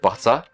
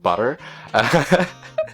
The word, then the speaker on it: butter: another one instead of butter I know Americans you guys pronounce it butter or like butter sorry if my pronunciation is awful um but in the British accent it's butter or butter look guys before you